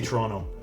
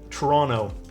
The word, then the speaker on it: Toronto: It's the way I say Toronto. I don't pronounce the T. Toronto Meetup.